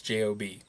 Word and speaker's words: Job: It is spelled like Job, but it's Job.